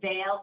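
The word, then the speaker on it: VALE: And what we're really excited about is that these effects continued onto the veil extension study which of course were you know rhymes with gale which is what we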